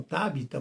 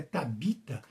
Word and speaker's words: Tabita: Alguns falam tábita, mas é tabita a pronúncia correta lá em Jope.